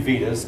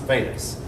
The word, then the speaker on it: Vedas: books called the Vedas it looks like it's Ruby Vitas but I mean I've been corrected on that it's suppose this pronounced Vedas the earliest Veda is